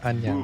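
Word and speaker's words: 안녕: Yeah, but perfect pronunciation. Nice Okay. job. Okay. Annyeong.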